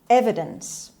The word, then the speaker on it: evidence: calame darse evidence evidence evidence the stress is on a sound is on the first syllable means that which makes